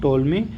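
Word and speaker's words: Ptolemy: टोलमी द्वितीय है ना यह इंग्लिश में टोलमी यहां पर पी साइलेंट रहता साथियों टोलमी द्वितीय ने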